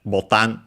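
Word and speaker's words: ボタン: Uh it means uh button uh it's an accented uh but uh the difference in pronunciation is because it's actually not straight up from English but actually from uh Portuguese bal.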